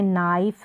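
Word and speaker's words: knife: यहाँ पर के साइलेंट है, जैसे नाइफ है, नाइट है, नाइट, और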